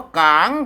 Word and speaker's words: กาง: ตัว งะ เห็น ม อ่าน ว่า กาง กาง ไม่ ใช่ กาก ต่าง นะ ครับ ต้อง ไป ลั่น